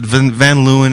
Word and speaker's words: Van Leeuwen: Well, that's closer to the Dutch pronunciation. Okay. Van Lewan. Oh, man. That's But Vanluan is American as as cherry pie.